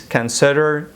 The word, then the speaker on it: consider: Please consider these points in your thesis. دوستان عزیز این لغت consider تلفظ نکنین اشتباه است. Consider کوتاه تلفظ میشه.